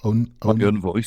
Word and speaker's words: Own Voice: Comment tu le prononces? Own Voice.